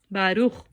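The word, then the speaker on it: ברוך: A gente vai pronunciar, então, essa palavra Baruch. Baruch.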